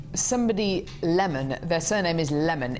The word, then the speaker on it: Lemon: lemon their surname is lemon it's spelled lemon uh but he calls himself Mr leemon who you trying to